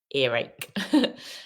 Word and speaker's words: earache: the pronunciation toothache ear when you say ear it doesn't have a r sound but when we say ear r the r appears ear ache ear ear